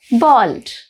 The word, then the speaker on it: bald: Bald. Bold means brave. Bald means no hair. The spelling is different and the pronunciations are also different. One is bold, the other is bald.